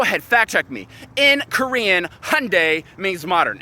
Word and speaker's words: Hyundai: how to say it in Korean it is pronounced Hyundai and guess what I brought the most modern